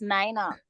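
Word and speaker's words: Niña: Santa Maria the N the N Nina it's pronounced Nina all right let me do it the Nina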